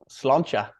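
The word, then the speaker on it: sláinte: me that how do you say it again slancha slancha pretty much saying thank you okay brilliant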